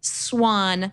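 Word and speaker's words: Xuan: swann is in there i'm told that's how you pronounce x-u-a-n which is her second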